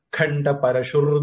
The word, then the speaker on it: खण्डपरशुः: அந்த இடத்துல நம்ம நிறுத்த போறோம், அதனால கண்ட பரஷுகுன்னு சொல்ல போறோம். இல்லைன்னா அடுத்தது தாருணக வர்றதுனால வல்லினம் வரல, விசர்க்கம் இர்ரா மாறிடும். கண்ட பரஷுர் தாருணோ அப்படின்னு வந்துடும். நாம நிறுத்துறதுனால விசர்க்கத்தை உச்சரிக்க போறோம்.